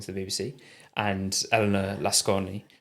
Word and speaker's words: Lasconi: the BBC, and Elena Lasconi. It might be Lascon, I think you don't pronounce the I on the end, but who's sort of centre left or quite a centrist candidate.